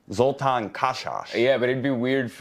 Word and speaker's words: Zoltan Kaszas: In Hungary, it's Zoltan Kaszas. Zoltan Kaszas.